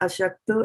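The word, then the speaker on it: अशक्तो: Now this over here, aśakto, and see these are tongue twisters because there's a sha over here and this is just a sa.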